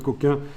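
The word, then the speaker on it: Cokin: Ah oui, quand on photographiait en noir et blanc avant, on mettait des filtres couleurs, ce qu'on appelle les filtres coquins, mais ça s'écrit avec un K, ne vous excitez pas, pour empêcher certaines lumières d'arriver.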